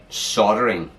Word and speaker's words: soldering: We call it soldering, and Americans call it soldering. They don't say the L.